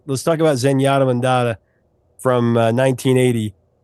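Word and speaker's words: Zenyatta Mondatta: Let's talk about Zenyatta Mandata from 1980. We always wondered if we were saying it correctly when I was Oh, you're saying that one correctly, but first two are always mispronounced.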